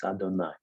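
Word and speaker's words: אדני: And every time you say the name of God, which you pronounce today as Adonai, but you think that it is Yud He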